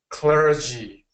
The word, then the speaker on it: clergy: clery clery okay and we're gonna get a stronger g g g G clergy there you go clergy